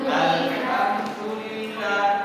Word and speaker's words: Alhamdulillah: Di ayat yang kedua ya, Alhamdulillah, Alhamdulillah, Alhamdulillah. Benar apa salah? Yang benar apa? Alhamdulillah, Alhamdulillah. Pakai huruf pedas, H kecil. Di mana H kecil itu? Di tengah tenggorokan.